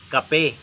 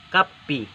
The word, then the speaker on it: kape: Pero hindi kape, kapi. Okay? Pero ang spelling niya K-A-P-E, kape. Pero ang pronunciation is kapi.